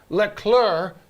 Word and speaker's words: Leclerc: of the season with leclerc you do not pronounce the c finishing second all right